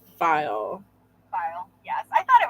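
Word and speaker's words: faille: Oh, Janet said that weird fabric is pronounced file.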